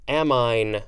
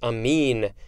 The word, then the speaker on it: amine: read next we have amine or amin no it's amine a-m-i-n-e i read this